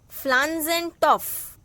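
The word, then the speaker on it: Pflanzentopf: Flanzentopf. Here P is silent.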